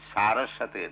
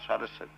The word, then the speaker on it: Saraswati: of Saraswati Namaste Saraswati you should pronounce it Saraswati not Sarasota Saraswati is the my